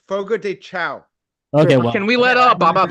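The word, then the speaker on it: Fogo de Chão: Dan stone is here Sean did I say it right boogo dechow it's Sean it's an Irish joint it's a Brazilian place man yeah it's called yeah it's Fogo de cha okay can we let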